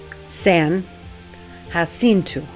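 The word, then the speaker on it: San Jacinto: And yes, that's how it is pronounced, San Hinu.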